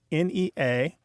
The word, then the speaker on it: neamhchinnte: And the Irish Gaelic pronunciation is something like neamhchinnte. Neamhchinnte. So that middle sound is either an aspirated H or an H or a TH or an SH, something like that.